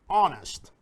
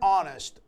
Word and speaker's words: honest: Yet we say an honest woman or an honest man because the H is silent.